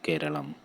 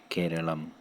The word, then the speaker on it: Kerala: In Malayalam, the native language of Kerala, the pronunciation is closer to Keralam, Keralam, Keralam. But for non-native speakers, Kerala is a commonly accepted pronunciation.